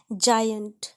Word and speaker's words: giant: Because when I comes after G इट is generally pronounced as ज. इसको ज़्यादातर ज प्रोनाउंस करते हैं जब G के बाद I आए. जैसे GIST जिस्ट, GIANT जायंट, GIBE जाइब, जिराफ, जिंजर, इंजन या इंजीनियर में भी GI को ज पढ़ते हैं.